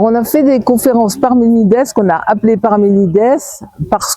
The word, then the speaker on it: Parménide: Parce que Parménides que l'on prononce en grec, Parménides parce que c'est un nom grec était avait comme philosophie la séparation entre l'opinion et la démonstration.